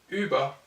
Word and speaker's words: Über: OU devient U et sera prononcé comme dans le français ultra. Et devient en allemand, sous forme de sonorité, Über.